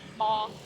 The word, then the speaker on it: bò: bò.